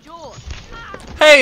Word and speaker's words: Jorge: up gets it jorge my name's pronounced jaw hey it's george uh what